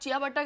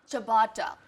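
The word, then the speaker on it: ciabatta: देखो, अगर आप चिया बट्टा करके बुलाओगे तो पता नहीं तो how do you वो pronounce देंगे it? भी नहीं आपको। तो कैसे प्रोनाउंस करते हैं इसको? चबाटा। चबाटा।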